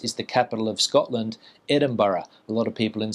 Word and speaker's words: Edinburgh: And another difficult place name for a lot of people in Spain to pronounce is the capital of Scotland, Edinburgh. A lot of people in Spain say Edinburgh or something like that.